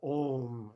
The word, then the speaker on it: om: quite nice you know it's got the vowel oh and then the sonant consonant and mani padme is